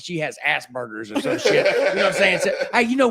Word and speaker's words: Asperger's: And I thought it was Asperger's. Yeah. And it's not. It's Asperger's. Asperger's. You gotta pronounce. I've been putting ground beef in it the whole time, dude. Like, I've been straight burgering it.